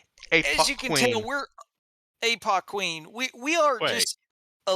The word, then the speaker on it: ApocWhen: name yes uh oh it's pronounced APO Queen ow she uh uh